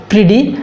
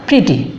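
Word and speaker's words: pretty: এরকম কিছু কিছু ওয়ার্ড আছে যেগুলো সরাসরি দুইটি ভাওয়েল নেই কিন্তু সেমি ভাওয়েল আছে, সে কারণে আমরা বলবো প্রিডি, আমরা বলবো না প্রিটি, প্রিডি।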